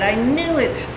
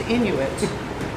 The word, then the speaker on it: Inuit: And I said, "I knew it." And he said, "No, it's pronounced Inuit." Inuit.